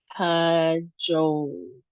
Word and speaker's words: cajole: Next one, we saw this earlier, 2 syllables, and we have the long O sound, Joe sound. And the second syllable is emphasized. So let's try it. Cajole, cajole, cajole.